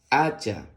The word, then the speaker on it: hacha: a Así mismo porque recuerda que la H es muda no tiene ningún Sonido La ch con la a suena cha aquí sí no es muda porque tiene la letra c delante recuerdas ch con la